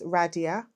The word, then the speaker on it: Radhiya: um so for YouTube it's my name I'll spell it it's Radia r a d h i y a and